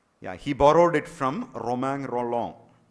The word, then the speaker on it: Romain Rolland: Yeah, he borrowed it from Romain Rolland, or anglicized the pronunciation Romain Roland, French Romain Rolland.